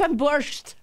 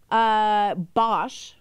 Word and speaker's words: Bosch: I was on Borscht.